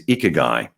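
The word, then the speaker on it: ikigai: learned from julie about how to pronounce ike guy as ichigai important that that one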